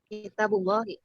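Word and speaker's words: كتاب الله: jadi gimana bacanya? Kitabullahi.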